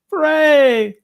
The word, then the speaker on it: Ferre: e r r e dot com and it's pronounced like hip-hop foray right fray oh so yeah that's it so yeah check